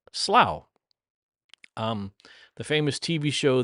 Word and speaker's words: Slough: And I believe they pronounce it slow. Um the famous TV show The Office, which originated in a uh British television TV show, uh took place in slow.